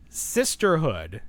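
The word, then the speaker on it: Cisterhood: The name of the doll line is Sisterhood except it's spelled CIS. You know, like sis, like, you know, you get it.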